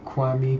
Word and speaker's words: Kwame: never catch it i mean it sounds it's kwame kwame you know you just used to it yeah uh so how do you say it kwami kwame kwami kwame komen kame yeah i i